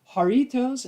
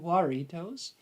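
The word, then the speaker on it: Jarritos: you for the pronunciation I will remember haritos instead of waros and haritos pineapple flavor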